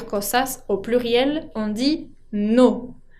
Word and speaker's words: nos: Ahora, si son varias cosas, au pluriel, on dit nos. No con ese final que no se pronuncia.